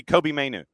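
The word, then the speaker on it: Mainoo: Is that how you spell it? Mainu? Yeah, Kobe Mainu.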